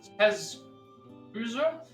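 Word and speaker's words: Kazusa: It refers to the 8 provinces of Musashi, Tsugami, Kosuke, Jumotsuke, Kazuza, let me pronounce this again. It's Kazuza, Shimosa, Awa, and Hitachi.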